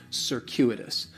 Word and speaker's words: circuitous: C is going to have more of an S sound, circuitous. The stress is going to be on that second syllable, and that CU it's kind of like you're saying the letter Q, circuitous.